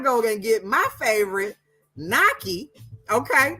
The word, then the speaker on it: gnocchi: It's called Naki. But it starts with a G, okay?